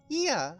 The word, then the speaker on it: Ea: Ia, I believe, was the pronunciation when used with referring to our people.